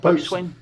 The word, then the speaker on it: boatswain: How do you pronounce that? Boatswain.